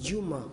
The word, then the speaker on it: Dioma: C'est écrit Dioma. Oui, Dioma, justement. En Wolof, c'est Djouma. Le I se prononce Dji.